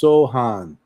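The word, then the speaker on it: Sochan: He said it's pronounced Sohan.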